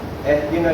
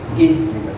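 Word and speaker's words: اهدنا: Ihdina is wrong. It will be Ihdina. So remember, whenever you see a Kasra, sharp downward pronunciation.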